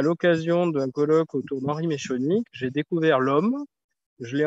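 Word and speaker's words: Meschonnic: Est-ce qu'on le prononce bien ? Meshkonik.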